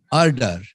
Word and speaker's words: RDAR: RDAR.